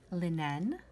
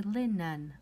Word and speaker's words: linen: example for linen linen for number five we do not say linen like an e sound we say lin nan an schwa and all of these